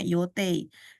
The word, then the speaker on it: 予定: 3番は山田さんが私が乗る予定。予定ini yote kanjinya bacanya yote.